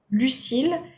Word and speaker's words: Lucille: Lucille with one L is pronounced the same way as Lucille with two L's.